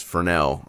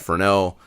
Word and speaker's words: Fresnel: correct prince pronunciation is fresnel i think the s is kind of silent there probably most well-known brand